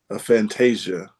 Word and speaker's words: aphantasia: So, one here says epilepsy and aphantasia.